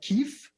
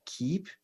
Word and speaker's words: Keep: it like a lot of people are like Keith yeah no that's what people say when I